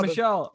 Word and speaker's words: Michelle: Michelle. I might be pronouncing it incorrectly. No, you got it, Michelle.